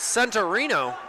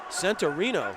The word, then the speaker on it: Centurino: We've been saying the name wrong all year, Coach. What? It's Centurino. Centurino.